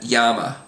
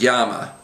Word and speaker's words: llama: A common way to pronounce it is as the English Y sound. So the words we have on the page there would be millón, amarillo, and llama.